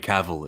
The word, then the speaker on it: Cavill: about henry cavill though henry cavill is how you say his name it's it rhymes with travel and then okay if